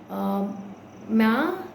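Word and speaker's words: myrrh: You can smudge with sage, copal, ma, it's spelled as MYRRA, so but it's pronounced as ma, and frankincense.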